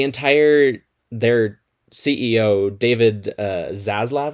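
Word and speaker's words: Zaslav: their ceo david uh zazlav i believe is how his last name name is pronounced something like that has said multiple things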